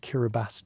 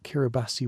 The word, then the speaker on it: Kiribati: The event served as Tobi's first major test as president establishing precedence for how Kiraabasi would engage with the international community. The choice of the name Kiraabas, the local pronunciation of Gilberts, reflected careful consideration of the new nation's identity and scope.